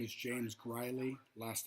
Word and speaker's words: Greule: Hi, my name is James Greuley. Last name is spelled Greule.